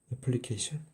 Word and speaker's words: 애플리케이션: 물어보는 사람들이 있을 텐데 실제로 앞부분 발음이 애플이랑 똑같아서 완전히 동일합니다 그래서 이렇게 쓰는게 맞고요